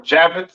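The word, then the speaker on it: Japheth: right next we have jaffet all right or javet some people like to call it right um pronounce Yap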